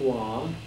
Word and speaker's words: Rouen: Well, Rouen, they pronounce it Rouen, that's where Joan of Arc was burned at